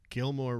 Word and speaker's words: Gilmore: And remember, Gilmore rhymes with Fillmore.